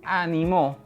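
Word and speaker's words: animó: animar y por último si yo decido cambiar el acento en la última sílaba tendré la palabra ánimo que en este caso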